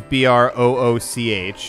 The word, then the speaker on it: brooch: modern actual spelling of brooch or brooch is BR o o CH and in fact a google new - it's pronounced brooch google new to say do you